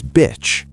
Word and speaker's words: bitch: Bitch has a short I sound. Say beach like B plus ch. Beach. Now say bitch, short and quick.